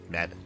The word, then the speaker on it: Mevin: Right, oh, Rhymes with 7. Yeah, there we go. There we go. Rhymes with 7. Mevin.